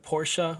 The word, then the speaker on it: Porsche: uh are we saying porsha are we saying porsche it depends on how snobby you want to sound you know it's like i mean in german it's pronounced porsche but like if you